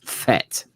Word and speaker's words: Fett: she says i say the last name wrong it's vet not vet as in v-e-t it's fett which is correct yeah anyway are you